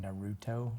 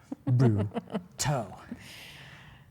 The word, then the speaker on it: Naruto: because I say it wrong, but it's like Naruto. Naruto. Yeah. She's like, Dad, Naruto.